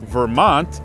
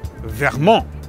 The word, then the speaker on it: Vermont: That's why we say "Vermont" instead of "verRRRRmon" and "Maine" instead of "mennnne".